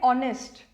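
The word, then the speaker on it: honest: भी लिखा because A एच is silent but I know many people जो pronunciation खराब रहती है वी कॉल इट नेस्ट या हनर ठीक है जहां पर जो अल्फाबेट आपका साइलेंट है उसको साइलेंट रखिए तो वी कॉल इट ऑनेस्ट जब मैं उसको प्रोनाउंस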